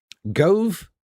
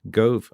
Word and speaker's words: Gove: Why does dove rhyme with glove, but gove rhymes with stove?